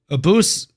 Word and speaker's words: Abus: Now Abus is ranked, and now that he is ranked, Abus rhymes with a moose.